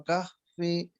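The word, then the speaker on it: كهف: Jadi kalau mau berhenti di sana, aturannya adalah harus dimatikan. Contoh, tidak dibaca kahfi tapi jadi kahf gitu.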